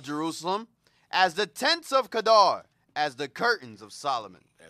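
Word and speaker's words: Kedar: now let's get me the Kadar rights with a Q it's spelled q e d a r Kadar rites Kadar rites we're gonna deal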